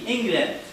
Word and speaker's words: England: Here the E letter also pronounced as short E, England.